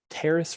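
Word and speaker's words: Taris: on a planet called terrace rhymes with paris lifted from knights of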